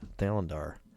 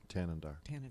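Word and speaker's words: Thanedar: And we're going to do a little bit of that today also with Sri Thalandar, gubernatorial Tanandar. candidate. How's it? Tanandar.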